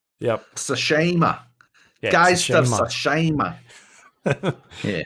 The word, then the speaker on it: Tsushima: Last up, we got Ghost of Tsushima or Tsushima. We can pronounce it properly now. Yeah, because we know how to say it. Yep. Tsushima.